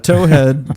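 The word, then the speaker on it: towhead: A tow head spelled toe. T O W. Oh, pronounced toe. T O E. Toe. I don't know why you would. T O W is still toe. Yeah, they're both toe. Is somebody pronouncing like towing a car differently than the toe on your foot?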